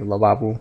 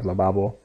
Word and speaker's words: lavabo: A lot of O's in Catalan are actually pronounced as a U. Okay, lavabo instead of lavabo.